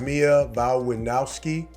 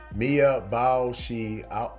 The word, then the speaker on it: Mia Wasikowska: The film stars Mia Wasikowska, or how do you say that? Mia Wasikowska, alongside Talk to Me breakout Joe Bird, and